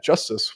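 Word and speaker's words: JSTZ: getting a new type of Ledger called uh justice which is uh spelled jst TZ which is so it's it's a fun pronunciation um to use jstc and say justice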